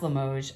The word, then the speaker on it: Limoges: Limoges, by the way, has an S on the end when written. I think that showed on that little stamp there. It probably shows on both stamps. But it's pronounced Limoges as if it doesn't have an S.